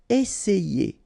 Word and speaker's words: essayer: Remember, double S, really strong S, and then it opens the E. Essayer.